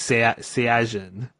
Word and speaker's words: Saiyajin: Or in Japanese, they say it different. They call it a Saiyajin. They say Saiyan in English, but in Japanese it's Saiyajin.